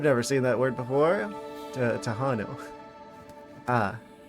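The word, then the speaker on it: Tejano: Tahanu. Ah, you pronounce the J like in those jalapeno peppers.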